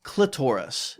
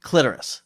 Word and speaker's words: clitoris: Now, I found you have to pronounce it. We'll discuss this a little bit. You can't, it's got to be clitoris. Yes. It can't be clitoris. That for me, exactly.